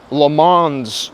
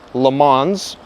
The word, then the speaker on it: Le Mans: These are Le Mans wheels, not Le Mans, which is the correct pronunciation, Le Mans, because it's American at the end of the day.